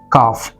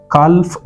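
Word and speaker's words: calf: Okay, काफ, काल्फ नहीं, यहाँ ये वाला L साइलेंट है। कैसे पढ़ना है आपने उसे?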